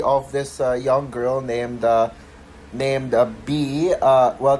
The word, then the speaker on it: Bea: And so the film tells the story of this young girl named B. Well, technically it's spelled as Bea, but pronounced B as if as in like just a B.